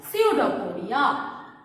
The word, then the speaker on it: pseudopodia: It is we call pseudopodia. P is silent in pseudopodia.